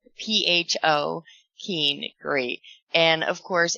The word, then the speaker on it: pho: So that's the name of the place, spelled P-H-O, Keene, great. And of course, in Vietnamese, P-H-O is pronounced as pho. So when it's all put together, it is meant to sound like profanity, according to, the city